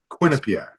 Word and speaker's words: Quinnipiac: So Quinnipiac. the Not emphasis is, Quinnipiac. Quinnipiac. you said it.